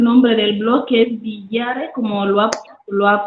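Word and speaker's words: Biwaare: Marta está pidiendo el nombre del blog, que es Villare, como lo ha pronunciado el presentador. Y bueno, es eso, Villare, Biware.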